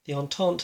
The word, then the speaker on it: Entente: Air Doctrine, the Entente, because it's been pointed out to me how to pronounce it correctly now by a friendly chap from Board Game Geek. The Entente have got Air Doctrine level of 2.